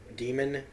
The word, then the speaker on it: daemon: almost like a daemon demon from look if it's people who in His Dark Materials reviews were telling me that it's pronounced demon even though it's spelled daemon fine this is de